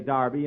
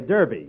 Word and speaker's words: Derby: Darby last Saturday bill that's Derby the English say Darby and the Americans say Derby yeah and the losers